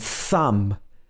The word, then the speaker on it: thumb: every morning when i say comb comb and thumb like thumbs up giving somebody a thumbs up